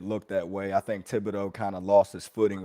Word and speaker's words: Thibodeau: I might be mispronouncing it. Is it Thibodeau? Thibodeau, yep.